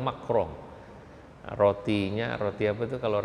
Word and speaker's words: Macron: Nggak sekarang ini yang lagi rame Eropa ya, dimana ada Macron, bacanya Macron ya Pak ya, dia bilang Macron atau Macron, orang sana bilang Macron.